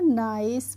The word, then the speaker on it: NICE: इसके बाद है फ्रेंड्स हमारा NICE, तो NICE को हम निके नहीं पढ़ते हैं, इसको हम क्या पढ़ते हैं? नाइस पढ़ते हैं।